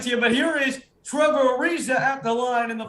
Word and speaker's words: Trevor Ariza: avery bradley oh say same guy anyway so trevor ariza yeah that's why i thought that anthony did i'm gonna give it to you but here is trevor ariza at the line in the first one what